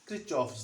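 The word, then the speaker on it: Kirchhoff: Now, let me begin with Krikov's law. Or some may pronounce it as Krichov's law.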